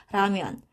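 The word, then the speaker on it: 라면: Di sini huruf real ditambah sama huruf vokal. Jadinya dibacanya adalah lebih ke R, ramyeon.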